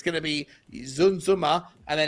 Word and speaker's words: Danjuma: I think you're going to see the boy Danjuma.